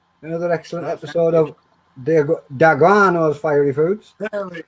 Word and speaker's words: D'Aguano: Da. Guano. Da guano. not The guano. Da. Da Guano. Da There Guano. it is. The Guano. Guano. 3 syllables. Like Da Luciano.